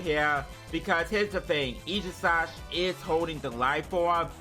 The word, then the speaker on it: Aegislash: There comes the Aegislash or the Aegislash. I think that's what it's pronounced as. I think it's pronounced as Aegislash. So I'm going to be pronouncing it as Aegislash instead of Aegislash.